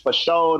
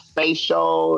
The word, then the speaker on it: FASHO: So at Sugar Dunkerton on Twitter, at Sugar Dunkerton, FASHO, that's pronounced for show, not face show.